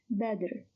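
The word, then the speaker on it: بدر: Only the first one is moved with a haraka, with a fatha, and it is a word of one syllable, badr.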